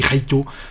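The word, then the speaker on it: ライト: Oui, mais en fait, on dit pas Light Yagami, on dit Yagami Raito. C'est comme ça qu'elle se prononce en japonais, donc c'est comme ça qu'elle se dit.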